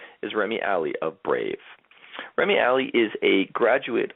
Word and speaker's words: Brāv: name of your company, it's pronounced Brāv, not Brāv. There's no E on it. There's the little mark on the top.